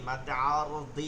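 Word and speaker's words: مد عارض: মাদ্দে লিন তিন আলিফ মাদ দুই প্রকার মাদ্দে আরজি আরজি মাদ্দে আরদি আসলে এটা উচ্চারণটা দয় কিন্তু এটা বাংলাতে আরজি বলে ঠিক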